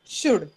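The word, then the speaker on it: should: या तिन्ही मध्ये जो एल आहे तो सायलेंट असतो. Okay, I will write it down in the chat box काय त्यांचे स्पेलिंग्स आहेत आणि त्यातला कसा एल सायलेंट असतो.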